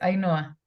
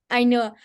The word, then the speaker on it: Ainhoa: puedo hablar Hola a a Noa no sé muy bien cómo pronunciar tu nombre qué pena contigo no te preocupes a Noa a Noa perfecto Hola a Noa vale